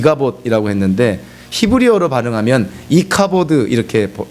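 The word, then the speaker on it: Ichabod: 하다 보니까 이 갑옷 이라고 했는데 히브리어로 반응하면 이카 버드 이렇게 이 발음이 되는 것이죠 카 버드 라는 말이 성경에서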